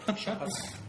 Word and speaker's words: Chocolat: Chocolate. You have to say it like that.